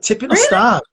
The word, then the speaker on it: Tipyn o'r Stad: And then you followed that up with, now tell us how to pronounce this, Tipyn o'r Stad. Very good. Tipyn o'r Stad.